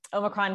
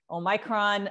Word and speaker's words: omicron: started on that um omicron can be pronounced any number of different ways i think people have been worried about am i saying it right you could say omicron omicron oh micron all of them are fine um with respect to